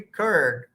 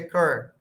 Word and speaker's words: curd: So it should be curd. You can pronounce it either curd which is where R is silent or you can say curd.